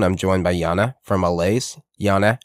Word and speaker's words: Alase: And we formed Alase, or Alase, like I pronounce it as a Finn, Alase.